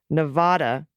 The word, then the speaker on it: Nevada: a commercial done on how to pronounce it Nevada where VOD rhymes with bad is the correct way nevadans look I already